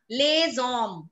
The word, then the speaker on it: les hommes: Okay, les hommes. Homme, what is homme? H-O-M-M-E. That means a man. Now, even alphabet H is treated as a vowel in French. So we call it les hommes.